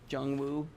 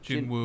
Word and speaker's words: Jinwoo: Jungwoo Sung. Jinwoo? Jinwoo.